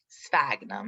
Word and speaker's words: sphagnum: are in the genus sphagnum sphagnum is how you say that um don't this has